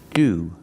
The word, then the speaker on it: to: sick he's sick and sometimes we pronounce the word to like this we say do do that's right it sounds like the word do but it's a fast d ude we pronounce the word to as do when it's after a vowel and before the schwa the short schwa sound